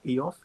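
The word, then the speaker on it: Ioffe: Victoria got her PhD very recently in December 2020 at the IOFE Institute. Did I pronounce correct? IOFE?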